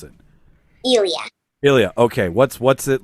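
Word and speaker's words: Ilya: I don't know how to how do you pronounce it Ilia Ilia okay what's what's it like working with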